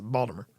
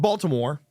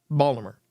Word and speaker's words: Baltimore: collapse in Baltimore and that's how you're supposed to pronounce it Baltimore um not Baltimore Not Baltimore Baltimore um so for those